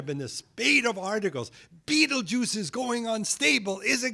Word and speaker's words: Betelgeuse: of Orion called Betelgeuse some people say petal goose but Betelgeuse is good enough that's how most people pronounce it and it is in